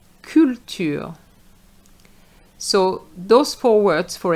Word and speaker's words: culture: capitalisme capitalisme culture culture So those four words for example are French words in the English language. And you have to remember that those words are going to be pronounced the French way.